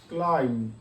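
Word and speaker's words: climb: এইখানে বির উচ্চারণ হয়নি। লম মানে ভেড়া। ক্লাইম মানে আরোহণ করা।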